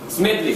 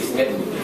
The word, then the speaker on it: Smedley: I hope I pronounce that name right. Smedley. Smedley.